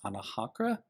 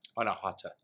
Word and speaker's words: Anahata: I'm going to probably mispronounce this. Anahakra? Anahata.